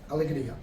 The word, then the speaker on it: Alegria: Alegria.